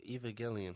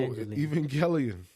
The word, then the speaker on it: Evangelion: his work is beautiful no eva gillian what yeah neon genesis even yellow i thought it was evangeline yeah no evangelion you said evangeline he's saying it the right way i thought it was